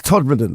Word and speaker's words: Todmorden: How do you know the correct pronunciation? Because I've been round there. Todmorden. It's Todmorden.